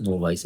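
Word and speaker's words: novice: Amateur is जो अभी नौसिखिया हो, टायरो हो, TYRO, टायरो हो, बिगिनर हो, नोविस हो, नोवाइस बोलते हैं, correct pronunciation is नोवाइस, NOVIC।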